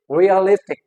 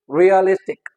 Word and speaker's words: realistic: And likewise another word is realistic, realistic, realistic। जो more prominent syllable होगा वो कौन सा होगा? the second last।